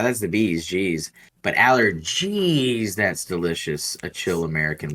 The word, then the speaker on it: Allergeez: see and the way the way I say it too and the way you just said it and how it's spelled on the can and everything I think Aller gez like whenever noan